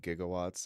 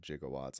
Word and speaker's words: gigawatts: it possible that those are supposed to be pronounced gigawatts I remember that always through me he always said jigawatts I was like it sounds like he's getting